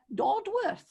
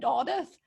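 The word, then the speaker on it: Dodworth: set list was uh doddworth uh i do believe that's not how you pronounce it i think you said oddith but but i'm not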